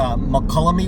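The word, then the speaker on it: Mokelumne: So there's u McCullamy Wilderness and Towalami Wilderness. That's how you pronounce them.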